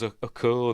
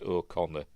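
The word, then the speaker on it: Okona: um uh Captain o Conor um I always pronounced it as a corer that's how that's how it looks do it on that o o o n it's pronounced o Conor is he Irish must be anyway um this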